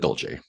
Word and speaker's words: Dolce: What is was it pronounced doulce or dolce? Um he pronounces it dolce.